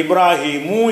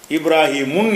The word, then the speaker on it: இப்ராஹிமு: அப்போ இப்ராஹிமு என்று சொல்லப்படுமே தவிர இப்ராஹிமுன் என்று சொல்லக்கூடாது. அடுத்து வந்து ஃபத்தஹு செய்யக்கூடிய ஒரு இடமா இருக்குது, ஃபத்தஹு குறியீடு வைக்கணும், அதாவது அன் மண் அப்படி வைக்க வேண்டிய இடமா இருக்குது.